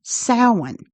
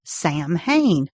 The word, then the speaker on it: Samhain: was a festival called Samhain, spelled Samhain, but pronounced Samhain. And I will say, my entire life, I always pronounced it Samhain, the way it looks.